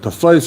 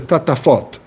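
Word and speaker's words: טטפת: He doesn't say tafais because that's not how you spell it. So a scribe, he says tatafot.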